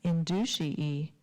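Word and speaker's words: induciae: No, inducii. There is an alternate pronunciation. Would you like to hear it? It is inducii.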